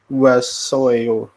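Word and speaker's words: 왔어요: O dengan A dibaca wa. Terus oh ya wayo waso. wasoyo Nah, waso.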